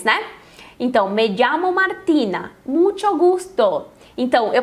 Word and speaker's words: llamo: Me llamo Martina. Lembra que na outra aula a gente viu a pronúncia dos dois L's, né? Então, me llamo Martina.